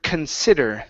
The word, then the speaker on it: consider: Last one here is the word consider. So it's a kun sound at the very beginning, very lazy sound. Consider. Consider. Okay, instead of con, okay, kun, lazy lips.